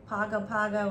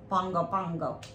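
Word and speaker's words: Pago Pago: surprise American Samoa yeah it looks like Pogo Pago or P poo but you pronounce it like Bongo Bongo any we went there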